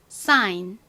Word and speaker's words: sign: 단어입니다 sign 이렇게 씁니다 g는 소리가 나지 않는다라는 거 기억해 주시면서 발음을 한 번만 더 따라해 볼게요 sign 좋습니다 자 이제 다음